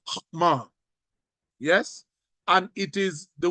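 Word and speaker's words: חכמה: you you probably didn't pick it up it's pronounced HMA yes and it is the word that is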